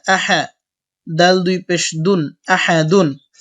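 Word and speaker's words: أحد: আ হা জবর হা আহা দাল দুই পেশ দুন আহাদুন অকফের সময় দাল সাকিন হবে এবং সাকিন হলে দাল কলকলা হবে আহাদে উচ্চারণ হবে আহাদ আমরা আয়াতটা সম্পূর্ণ একসাথে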